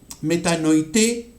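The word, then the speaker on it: μετανοεῖτε: Y esto se toma, esta palabra, es la traducción de este término griego que, la pronunciación es metanoité, ¿ok?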